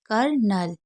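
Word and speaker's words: colonel: है हमेशा याद रखिएगा सीओ एल इसको क्या पढ़ते हैं कल लेकिन यहां पर आपका एल साइलेंट होता है तो उसे कल कर पढ़ेंगे करनल अब ऐसा क्यों पढ़ा जाता है क्योंकि इसका साउंड ऐसे ही होता है हमशा आपको इसको ऐसे ही पढ़ना है सेकंड वर्ड मीनिंग देख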